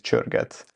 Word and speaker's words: Csörget: Usually for English speakers, I say Csörget, because it's easier for them to pronounce, but in Hungarian it's Csörget.